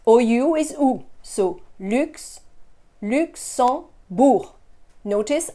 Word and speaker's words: Luxembourg: So Lux, Luxembourg. Notice I don't pronounce that G at the end. It's not Luxembourg. Luxembourg.